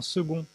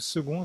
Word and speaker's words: second: Par exemple, je n'avais pas pensé à intégrer un C qui se prononce G comme dans second. Parce que vous aviez réalisé que second, c'est un C qui se prononce G.